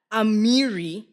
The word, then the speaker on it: Amiri: It says here, Amiri, am I saying it right? Yes, Amiri.